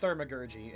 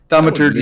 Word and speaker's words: Thaumaturgy: The spell is called Thermagurgy, and it's a big fancy word meaning miracle work. Oh, yeah. Jesus. Thaumaturgy and prestidigitation. 1 divine, 1 arcane. I think you even said it wrong.